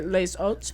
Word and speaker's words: Les Hôtes: Well, you'd say the S because the H is silent, so you'd say les oats.